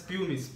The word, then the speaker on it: pumice: is second is pumice we have to pronounce it as pumice p-u-m-i-c-e it is punish